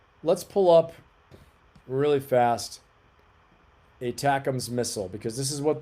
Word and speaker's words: ATACMS: ATACMS, pronounced ATACMS, is a long-range precision guided ballistic missile system developed by the US and manufactured by Lockheed Martin.